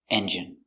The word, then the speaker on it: engine: Pronunciation engine. E N J. Strong. J engine I engine stress only first syllable engine he has to put a new engine in his old car engine.